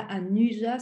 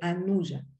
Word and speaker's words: Anuja: Après, il y a le U, mais on prononce ou parce que c'est Anuja. Donc, ce n'est pas Anuja, c'est Anuja.